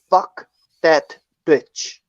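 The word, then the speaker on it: Phuc Dat Bich: His name is Fuck That Bitch. And it is. It's spelled PHUC fuck DAT dat and bitch is spelled BICH.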